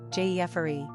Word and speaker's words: Geoffrey: Number of syllables, 3. Ranking popularity, 629. Pronunciation, Jeffery.